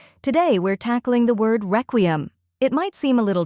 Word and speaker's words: requiem: The correct pronunciation is requiem. Let's break it down. First, we have wreck, which sounds like wreck in wreckage.